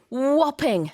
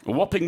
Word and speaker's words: whopping: Whopping. Whopping with a silent H, WHOPPING, meaning huge, massive, enormous.